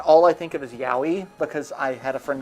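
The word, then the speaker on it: yaoi: I think it's Yowie, is how it's pronounced.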